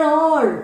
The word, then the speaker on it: hour: We have to pronounce it not as hour. It should be pronounced as hour. It's only an hour more. Okay. A sound. It doesn't gives you the ha sound because H is silent.